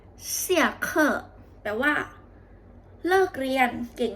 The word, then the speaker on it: 下课: ตี้ อู่ แล้ว ตี้ อู่ ตี้ อู่ ชื่อ เสี่ เค่อ เสี่ เ่อ แปล ว่า เลิก เรียน เก่ง มาก ค่ะ เมื่อ